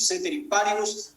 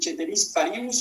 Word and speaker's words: ceteris paribus: Yo la pronuncio ceteris paribus, algunos se hacen los latinenses y dicen ceteris paribus o como sea, no sé.